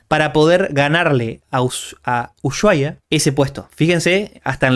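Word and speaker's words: Ushuaia: Usuaya, si quieren ser lo pronuncio como se debe pronunciar, Usuaya es la ciudad más al sur del planeta.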